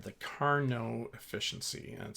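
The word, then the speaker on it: Carnot: exceed What's called the Carno efficiency and spelled like it was car not but it's car no let's put that together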